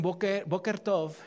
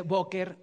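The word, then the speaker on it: בוקר: este usted le dicen bokkert y usted le dice bokkert no no se dice bokkert se dice boker or qué significa que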